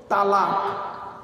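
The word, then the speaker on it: طلاق: তালাক। কি বললাম? শব্দটা কিন্তু তালাক নয়, শব্দটা হলো তলাক। কি বললাম? তলাক।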